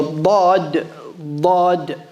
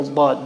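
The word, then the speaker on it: ض: Now, the dad, the scholars differ on how exactly to pronounce it. But the correct position, Allah knows best, is the left side of the tongue. It touches the left side of the top teeth, the upper teeth.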